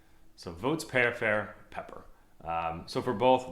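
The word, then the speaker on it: voatsiperifery: so they're vanilla cinnamon and a spice called votes pear fair so it's pronounced spelled v-o-a-t-s i p e r i f e r y so votes pair fair pepper um so for both votes peripher and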